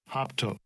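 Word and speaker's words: ἅπτω: And this is the pronunciation. Strong's G 680, hoptomai. Hoptomai. Thayer's lexicon, hopto.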